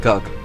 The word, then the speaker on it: Gug: It has a word similar to Gog, but is pronounced Gug.